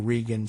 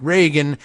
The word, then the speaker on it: Regan: in our platform Mr Regan said I'm going with Regan the Don Regan pronunciation of r-e-g-a-n even though I know that there are people out there who do pronounce it Reagan and we were all